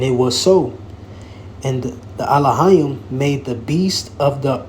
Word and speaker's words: Elohim: It says, in the Alahayim, when you go into this word God here, is Alahayim, or how they say it in the Syrian, all right, Elohim.